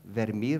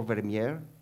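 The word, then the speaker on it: Vermeer: a really important painter verir or vermier it depends how you pronounce it and vermier was one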